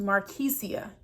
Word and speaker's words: Markesia: And then my name is pronounced Markesia. Key in the door, Sia.